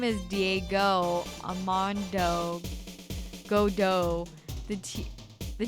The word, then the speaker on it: Godot: He's named after En Attendant Godot, the French play. And was it about a guy who liked coffee? The tea is silent because he doesn't drink tea. He drinks coffee.